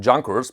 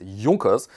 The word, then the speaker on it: Junkers: the United States, because people thought it's called Junkers, but the correct pronunciation is Junkers.